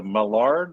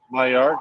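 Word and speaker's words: Maillard: right amount of the I always pronounce it wrong is the the malard effect is that how you say it the myard effect myard okay see I told you which is the uh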